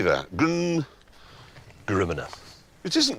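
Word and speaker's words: GRMN: Gruminer. It isn't Griminer.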